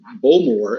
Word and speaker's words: Bowmore: The accent is often on the second syllable of a word in Gaelic. So, yeah. So instead of Port Ellen, you might say Port Ellen. You would say Port Ellen. Instead of Bowmore, as we would say, it's Bowmore.